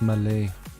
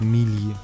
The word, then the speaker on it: melee: about English natives but it's called Malay and not melee or whatever people say um so one thing